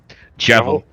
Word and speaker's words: Jevil: Jevil. Yes, we look Jevil Deltarune. Wait, how do you spell it? Jeval. Like devil, just with a J.